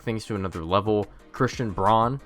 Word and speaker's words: Braun: Christian Braun, I refuse to call him Christian Brown because it's literally spelled Braun. We can't just decide to call people something different when it's pronounced that way, or when it looks that way, rather.